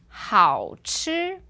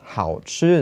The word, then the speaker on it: 好吃: One was 好吃 is tasty, and then the other one 好吃. Yeah, the second one was 4th tone.